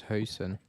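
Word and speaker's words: Huijsen: don't mess it up hoyson yeah actually I don't know actually actually it's hosen but I don't think anyone will say that like that so let's say I'm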